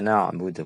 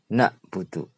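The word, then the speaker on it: نعبد: kita membaca iyaka na'budu pakai Ain e karena ndak apa namanyaak pernah belajar bacanya nakbudu pakai Kaf itu artinya adalah sakit limpa Nah kita sakit limpa atau pakai Hamzah nabudu itu artinya gelisah padahal arti aslanya na'budu adalah kami menyembah Nah perkara-perkara ini bisa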